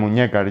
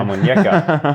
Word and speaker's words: Almuñécar: I heard someone call you the Lion of Almuñécar, or how I pronounce that terribly. Almuñécar, yeah. Almuñécar.